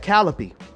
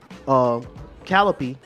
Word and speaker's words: Calliope: So you got Calliope, which is the muse of epic poetry.